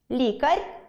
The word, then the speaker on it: лікар: Порахуйте орфоепічні помилки в реченні: ЛікарЬ рекомендував мЕні менше ґрати в компютерні ігри. Скільки помилок почули? Їх тут 4. По-перше, “лікарЬ”. Звук [р] в кінці слова варто вимовляти твердо, тому правильно сказати “лікаР”. Друге, не мЕні, а менІ.